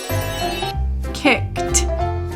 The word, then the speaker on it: kicked: The one syllable word kicked ends with the t sound.